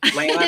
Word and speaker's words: Lana: Lana. It's Lana. Lana. Okay. Sorry. You know, they wrote banana next to my name on John Legend's paper. I found out so he would say it right.